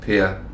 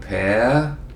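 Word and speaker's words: Per: three-letter name which is Pierre p e r and most Brits has problems pronouncing those three letters into something useful um so I've been called pair peer some tries to call me something French and it's actually quite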